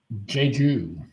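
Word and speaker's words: Jeju: It's pronounced as Jju.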